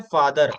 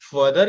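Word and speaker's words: father: बात करें फादर की तो अगर आप सिंगल ए के लिखते सिंगल ए है बट जब हम इसको प्रोनाउंस करें तो फादर प्रोनाउंस करेंगे वरना मैंने जैसे बोला कि आप अगर प्रोनाउंस करेंगे सिंगल ए के साथ तो वो फदर हो जाएगा और फदर की स्पेलिंग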